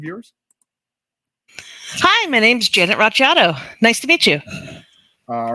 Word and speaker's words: Racciato: Hi, my name's Janet Racciato.